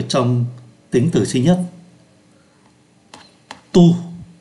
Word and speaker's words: tous: Thì chúng ta thấy tu phát âm giống nhau. Tu, T-O-I-T và T-O-I-S, O la même prononciation et se prononce tu.